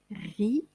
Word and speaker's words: riz: Riz se termine par un T qu'on ne prononce pas. Riz.